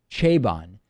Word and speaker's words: Chabon: novel by Michael Michael I believe the the last name is pronounced chabon the Yiddish policeman's Union